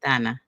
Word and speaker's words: Dana: Donna. Okay. Exactly. That's how you pronounce it in in Romanian. But yeah, English people still say Dana.